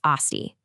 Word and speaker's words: asti: you just add a little i sound at the end. It becomes asti. So, you'd say, "Kuja asti?"